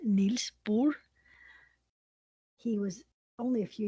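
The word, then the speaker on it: Bohr: Neil bore was Danish his name would be pronounced Neil bore he was only a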